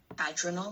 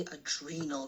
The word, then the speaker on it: adrenal: You said adrenal glands, they're actually adrenal glands. So the accent is on this E here. Okay? Mm-hmm. Like you would say adrenaline.